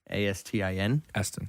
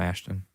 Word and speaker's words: Astin: sean ashton and the aston ashton astin aston shawn ashton aston aston aston aston aston aston aston austin it's not ash there's no there's no ash in there i mean i know there's